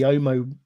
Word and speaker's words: Omos: them I could see omo homo homo it's a silent s uh Omas when I